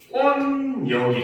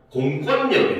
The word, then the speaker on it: 공권력: 그런데 권력 앞에 공자를 붙이면 얘는 발음이 어떻게 되냐면 공권력이 됩니다. 오히려 유음화 환경인데 비음화가 일어나요. 공권력이 됩니다.